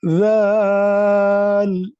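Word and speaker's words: ذال: Val. You are kind of pronouncing the val like V sound. It is not V. It is kind of Z sound. Okay, Z, zebra. But in a softer way, soft voice.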